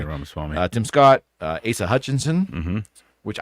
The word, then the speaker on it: Ramaswamy: Am I pronouncing that correctly? Yeah, Ramaswamy.